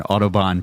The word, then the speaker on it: Audubon: We are recording live today at Bald Birds Brewing in Audubon, Pennsylvania. Did I pronounce that right?